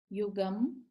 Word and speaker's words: युगं: जो अनुस्वार है, युगम, ग के ऊपर अनुस्वार बिंदी जिसे कहते हैं, बिंदी देख रहे हैं आप, तो इसका उच्चारण न और म दोनों तरह से किया जाता है। तो क्योंकि प्रचलन में म ज्यादा है तो हम म को भी रखेंगे।